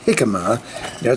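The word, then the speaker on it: jícama: along those lines anyway got things like uh hikma and cheese salad yes it is hikma has a j in it but it's spelled pronounced like H and guacamole there's even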